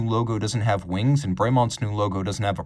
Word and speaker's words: Bremont: a bit of a tribute name the correct pronunciation is bremont although if you wanted to go back to